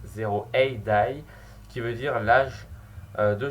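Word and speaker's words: 0 A.D.: Il se prononce 0AD, qui veut dire l'âge de Jésus, donc c'est un jeu qui se passe en l'an 0 comme on peut voir sur l'image.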